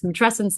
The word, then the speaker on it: matrescence: You can use, it's matrescence like adolescence.